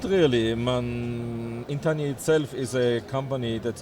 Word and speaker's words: Entaniya: I was going to say, how do I pronounce it? Yeah, it's a little difficult. Entaniya, yes.